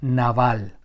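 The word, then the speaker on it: נבל: La palabra necio en el original hebreo significa o se pronuncia naval y se refiere más a una necedad moral.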